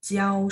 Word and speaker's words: 教: Kalau dia berfungsi sebagai kata kerja, maka nada 1, 教书. Nah, kalau teman-teman lihat dari artinya, mengajar itu adalah verb, kata kerja. Sehingga harus dibaca 教, nada 1. Mengajari, mengajar, itu adalah nada 1 ya.